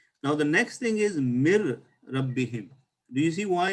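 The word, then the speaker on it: مِنْ رَبِّهِمْ: a qaida like this, we have to put the R with the shadda or the ra, and then the noon is not pronounced, and we say mir rabbihim.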